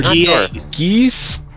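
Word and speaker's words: Gies: Is it Gus? Arthur Geese.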